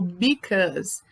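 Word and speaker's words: because: em inglês é o Bicas tá a gente escreve be cause mais a pronúncia é Bicas ok e continuando então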